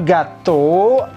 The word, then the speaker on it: gâteau: Le gâteau, kombinasi e a u itu o, kemudian e bon.